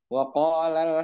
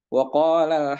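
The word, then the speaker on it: وقالا: Ketika dia sedang membaca dan berhenti di mat itu, maka dibaca panjang, waqala waqala kalau dia berhenti.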